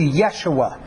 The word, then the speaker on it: Yeshua: It would have a Y sound, so it would be much closer to Yeshua.